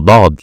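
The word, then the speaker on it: ضاد: Next letter is the dad letter. Don't say dad letter. Is dad letter, is a heavy letter.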